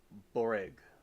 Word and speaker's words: burek: She said, we call it Baruch. To pronounce it, it's more of Boreg.